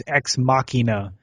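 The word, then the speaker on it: Ex Machina: today I mispronounced it I pronounced it uh x x uh Machina but it really this guy corrected me today at work it's exmachina and I was like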